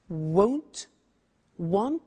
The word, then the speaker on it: won't: is the negative won't remember the difference between will not won't and want won't want so be careful with